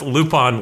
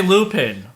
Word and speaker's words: Lupin: up because that's French and you pronounce Lupon like that in France. Yeah, cuz we didn't say Lupin.